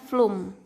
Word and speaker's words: floem: xilem dan jaringan floem tulisannya floem Tapi bacanya flume Ya yang terakhir jaringan